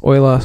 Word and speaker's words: Euler: It's Euler, pronounced like oil, but well, it's a German Swiss thing.